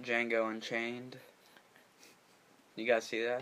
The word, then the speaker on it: Django: I like Django Unchained. You guys see that? The D is silent.